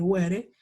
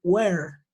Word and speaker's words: were: Esa letra silenciosa, es decir, que no se pronuncia, es la segunda E. Yo no puedo decir were, I say were, hasta la R, normalito, ¿ok?